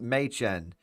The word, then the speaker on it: Maychen: It's pronounced Maychen. Maychen. Look, is definitely how I would pronounce it if I was British.